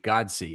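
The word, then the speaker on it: Godsey: It's George Godsy.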